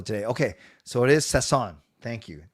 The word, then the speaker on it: Sasson: Okay, so it is Sasson. Thank you. Not Sassin. Sasson.